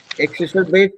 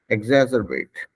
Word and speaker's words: exacerbate: देखिए, this is how English people will pronounce it. Exacerbate.